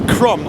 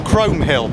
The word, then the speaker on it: Chrome Hill: in the distance there is chro or Chrome Hill depending on how you want to pronounce it so I'm out walking